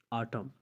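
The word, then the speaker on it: autumn: अगर किसी लफ्ज़ में एम के बाद एन आता है तो एन हमेशा साइलेंट हो जाता है। जैसे आप कहते हैं आटम, आटम में एम के बाद एन आया हुआ है लेकिन हम उससे नहीं पढ़ेंगे, वो साइलेंट लेटर्स में से शुमार होता है।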